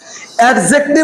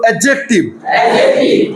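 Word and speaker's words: adjective: অ্যাডজেক্টিভ উচ্চারণটা ভুল, উচ্চারণটা বলো অ্যাডজেক্টিভ। না, ড বাদ দিয়ে দাও, বলো অ্যাডজেক্টিভ।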